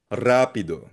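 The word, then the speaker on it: rápido: Rapido may accent sa first syllable.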